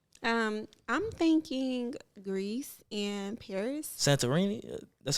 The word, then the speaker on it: Santorini: Santorini.